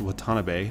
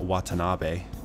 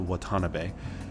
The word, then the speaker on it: Watanabe: the way it's pronounced Watanabe not Watanabe in Japan you don't emphasize any parts of a name it's all the same level as you say it so it's just a Watanabe but they also have